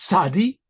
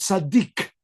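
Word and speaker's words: צדי: It's pronounced sadi and sometimes it's called sadik sadik.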